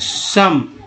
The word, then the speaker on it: some: जैसे SOME में, है ना, SOME में क्या बोले, SOME उच्चारण ओ का क्या होगा, अ होगा। सम, ABOUT अबाउट में ए का उच्चारण क्या होगा, ओ का आ होगा।